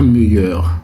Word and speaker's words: meilleur: Prenez votre temps et prononcez le mot correctement. Meilleur. Meilleur. Arrêtez de dire meilleur.